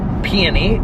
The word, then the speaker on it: peony: guys it smells like pee any peony is how you pronounce it PMA flowers that's what